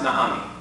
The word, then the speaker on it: Naomi: Naomi, in Hebrew, it's pronounced Naomi.